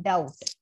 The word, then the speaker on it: doubt: word power for example b must not be heard in doubt d o u b t b is there in spelling but b is not there in pronunciation right so as i